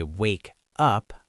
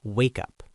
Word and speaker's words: wake up: But I don't say wake up, I connect the sounds. It sounds like wake up. Wake up. The K moves to the second word.